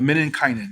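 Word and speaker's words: menninkäinen: Next is the Men and Kanan. Oh, am I pronouncing that right again? Uh, Men and Kynan.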